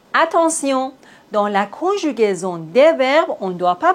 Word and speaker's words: verbe: On ne prononce pas le E final. Par exemple, le verbe, on ne dit pas le verbe, non. Le verbe, le téléphone, la rue, bienvenue.